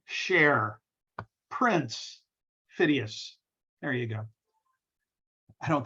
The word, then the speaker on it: Phidias: at olympia by the sculptor fides ah sorry phidias videos i always mispronounce his name and i've said it